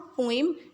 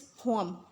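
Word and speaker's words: poem: तो इट इज़ नॉट पोइम, इट इज़ पोम. ठीक है, इसकी प्रोनाउंसिएशन है पोम.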